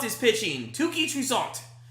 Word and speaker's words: Toussaint: Toussaint is pitching. Touki Toussaint. You have to have a little French flavor in there, in my opinion, when you pronounce his name.